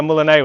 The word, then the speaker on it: moulinet: So you're doing like a moulinet with an axe, okay? I've been reliably informed it's pronounced moulinet, and that's by Matt Easton, so you can't yell at me because he is king.